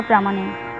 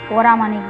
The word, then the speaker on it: প্রামাণিক: প্রামাণিক, প্রামাণিক বলার সময় পরামাণিক বলেছিল, পরামাণিক হবে না, প্রামাণিক হবে।